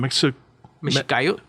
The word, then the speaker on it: Mexicayotl: Mexicayo. Mexicayo. Yeah. Thank you. That's spelled Mexicayotl.